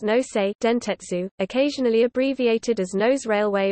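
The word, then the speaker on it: 能勢電鉄: Railway Co., Ltd., Nainshi Dianji Zhushi Huishi Nose, pronounced Nosei Dentetsu, occasionally abbreviated as Nose Railway or Noseden, Nainshi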